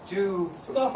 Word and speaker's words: stove: That E at the end is silent. But it affects the S-T-O-S Stove. S-C-O-V-E. V-O-V-E. Remember, with these kind of words, the E is silent, but it changes the O to the long form.